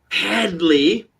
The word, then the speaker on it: Headley: The mortician, Headley, it's pronounced Hadley, the crazy Elithid.